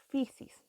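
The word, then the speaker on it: φύσις: este concepto en griego se pronuncia como pixies ya entonces por eso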